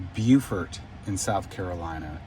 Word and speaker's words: Beaufort: Uh it's pronounced Beaufort in South Carolina.